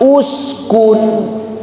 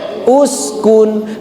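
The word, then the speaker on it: اُسْكُنْ: Tetapi ketika di sini sudah ibu mengetahui rumusnya apabila ada hamzah wasal bertemu huruf setelahnya huruf ketiganya di domah maka hamzah wasalnya didomahkan. Jadi atuh dibacana uskun ya Bu nya. Dibacanya uskun.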